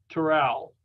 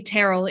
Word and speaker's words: Terrell: Says Terrell. Hi. It's It's actually Terrell. It doesn't rhyme with my first name, but don't worry, everybody gets it wrong.